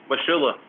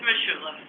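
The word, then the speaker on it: Mosholu: Washula. Well, not everyone says it that way. Okay, You hear how some people pronounce Schermerhorn, it's unreal. It's Mashula.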